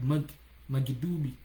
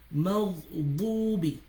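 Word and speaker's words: مغضوب: There's not any sound like magdubi. There's not magdubi. Some people pronounce the dot like dal, magdubi. There's nothing like magdubi. Maghdubi, right?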